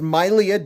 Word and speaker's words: Mylea: Not your Mylea, Mylea. Not your Leah, Mylea. By the way, it is pronounced Mylea, just so you know.